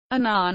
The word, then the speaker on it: Annan: that corresponds with Friday Anan has said his surname rhymes with Canon in English from 1954 to 1957